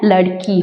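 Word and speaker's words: लड़की: ஸோ லடாக்கி கிடையாது, லடுக்கி. ஸோ லடுக்கி டு சொல்லும் போதே உங்களுக்கு ஒரு ப்ரொனவுன்சேஷன் வருதா, இது லடாக்கி அப்படின்னு வருது. ஸோ இதுதான் டிஃப்ரென்ஸு. இந்த கீழே இருக்கிற டாட் பேர் வந்து முக்தா. இப்போது மே லடுக்கி ஹூ, அப்போது மே லடக்கி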